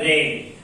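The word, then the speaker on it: read: Verb का third form रेड। अब देखिए स्पेलिंग में कोई फर्क नहीं है, लेकिन रीड इसको पढ़ा जाता है रीड रेड रेड, third form है रेड, लेकिन स्पेलिंग वही होता है आर ई रेड।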